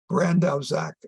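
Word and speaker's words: Bandrowczak: that brand of Zach I think is the correct way brandaus Act is the correct way to pronounce his name he is a very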